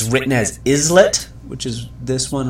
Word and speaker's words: islet: It's written as islet, which is this one right here. But it's pronounced islet, meaning a little island.